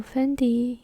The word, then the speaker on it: Fendi: that's Chinese pronunciation very similar to the English pronunciation which is Fendi so Fendi in Chinese is Fendi Fendi fendy so it's